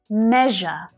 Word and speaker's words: measure: Now listen to the difference between the two vowel sounds in these different syllables. Me-je, e-e, e-e, e-e. Okay, so there's a difference in the way that the vowel sound is pronounced as well.